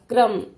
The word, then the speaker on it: क्रम: र का व्रत क्रम क के नीचे लगी है तो क के बाद र आएगा क्रम ग के नीचे है पन